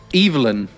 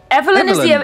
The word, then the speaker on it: Evelyn: Evelyn is the English pronunciation.